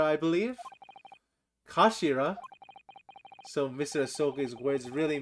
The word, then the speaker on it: kashira: end of the hilt it's written as the head in Japanese but it's pronounced as Kashira I believe Kashira so Mr ahok's words